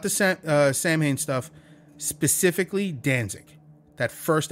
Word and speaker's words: Samhain: not the scent uh Samhain stuff specifically Danzig that first album maybe two it's not supposed to be pronounced Sam Hayne by the way silent